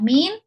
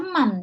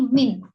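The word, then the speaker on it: مِن: sini dia adalah harfu Jar ya Min Jangan dibaca Man ya kalau ini Min ya kenapa bukan Man karena kalau Man artinya siapa ya keturunan Umar siapa Bani Tamim tentu tidak benar maka kita bacanya Min ya Min dia irabnya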